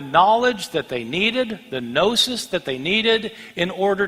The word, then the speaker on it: gnosis: The Greek word for knowledge is gnosis, spelled with a G, Gnosis.